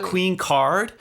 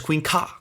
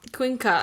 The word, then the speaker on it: Queencard: I mean, it's not Queen Card. It essentially gets pronounced as Queen Ka. Queen Ka.